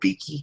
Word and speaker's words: Beeke: Joel Beeke?